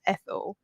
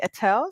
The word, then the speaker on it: Ethel: confusion with my name so it's e t h e l it's an English name and automatic spelling I mean pronunciation people um the default is Ethel yeah but my parents from birth called me AEL so I just go with AEL and I am